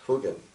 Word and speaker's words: hogan: And here, this great display here, this is a clay made hogan, properly pronounced hugan, Navajo hugan, dwelling that's made with logs.